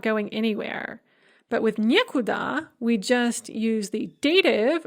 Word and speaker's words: некуда: We have не instead of ни, and the stress is on the не. So we have нигде, which means nowhere when indicating location, некуда, nowhere indicating direction, никогда, never or no time, and ничего, nothing.